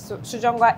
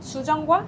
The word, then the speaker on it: sujeonggwa: And sujeongwa, like sujeongwa. It's a sauce? It's a like juice. Usually we are drinking sujeongwa at the end of the meal to digest and then refresh.